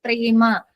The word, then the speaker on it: प्रेम: here Prem pronunciation is in Hindi. In Sanskrit, prema.